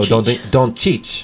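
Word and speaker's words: Dončić: And a soft ch, and it goes ch and ch, right? Oh, okay. Doncic. Doncic. Yeah, so you got to go Doncic.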